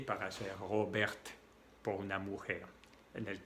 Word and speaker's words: Robert: En mi nombre, yo me llamo Robert. Al principio se escribe con una R y al final la R y la T. La T no se pronuncia.